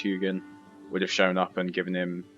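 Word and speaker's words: Huginn: tutorial on otherwise uh hugin i think he's pronounced hugon would have shown up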